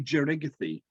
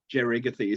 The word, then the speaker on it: Jerigathi: It's actually Jerigathi. Jerigathi.